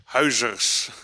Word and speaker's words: Huijzers: It's close. Huijzers. Huijzers.